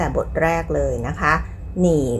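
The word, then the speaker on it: 你: แรก เลย นะ คะ หนี่ หมาย ถึง คุณ ค่ะ เป็น เสียง เนอ อี นี่ นี่ หนี นี่ เสียง ที่ 3 แบบ นี้ นะ คะ ไอ ออก เสียง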